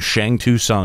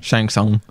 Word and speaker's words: Shang Tsung: It's supposed to be sung. Shang Tsung.